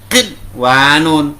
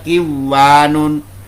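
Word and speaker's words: قِنْوَانٌ: Dibaca berat kinwanun, bukan dibaca kiwanun.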